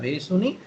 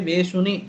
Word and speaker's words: Vesuni: Shubhakara Vesuni Sita Ram. Vesuni you should say, you should not say Veshuni just because.